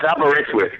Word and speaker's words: Aberystwyth: Are you familiar with Aberystwyth? It's Aberystwyth, by the way.